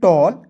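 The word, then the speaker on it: tall: टी A double L टॉल, बी A double L बॉल, एम A double L मॉल।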